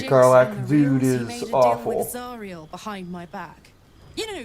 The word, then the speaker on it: Zariel: And yes, it is pronounced Zariel, not Zeriel.